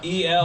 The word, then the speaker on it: Elrick: Yeah, it's Elric with a hard R.